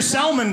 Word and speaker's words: salmon: Number one, you go to the restaurant, the waitress pronounces the L in salmon. It's not gonna be a good meal, okay? How would you like your salmon prepared?